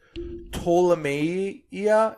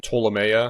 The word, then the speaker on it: Ptolemaea: It's like Ptolemaea. It's P-T-O-L-E-M-A. So it starts with a P, but so it's definitely a Latin word of some kind. Ptolemaea, probably. Yeah.